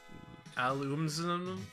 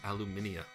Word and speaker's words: Aluminia: Alumina? It's pronounced Aluminia. Damn it.